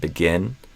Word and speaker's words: begin: I think you said begin instead of begin. So E versus I in begin. So I do a I. Begin. Begin. Beginners. Okay. Yes, for sure. I said begin.